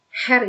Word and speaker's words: Herr: Herr itu yang berarti bapak ya, dibacanya Herr, bukan Herr, tapi Herr.